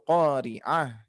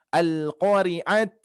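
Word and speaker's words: القارعة: Yang harusnya dibaca mal, tapi ini menjadi mal qari'ah ya. Seperti itu. Ini sama di huruf ha kan ya. Karena ada sebagian para pembaca Al-Qur'an yang membacanya al-qari'at, mal qari'at menjadi huruf ta ya. Hati-hati.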